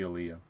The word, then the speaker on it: Aaliyah: We'll spell it. A-A-L-I-A. Liyaah. Aaliyah. Aaliyah. Aaliyah. Got to be Aaliyah.